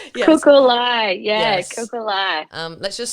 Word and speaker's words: Kukulai: I'm going to let you pronounce it just in case I butcher Kukulai. I say it's Kukulai. Yes. Kukulai.